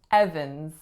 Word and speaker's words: Evans: we have Evan's Evan's only two syllables the winners on the first and it makes a sound F now tell me am i nasal icing the second vowel or is it a schwa Evan's Evan's it is a swap so we're not saying advance or saying Evans next one we have